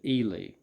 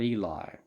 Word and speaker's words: Ely: with ely parker and he pronounces it ely not eli uh he leader rhyme with freely e-l-i is eli he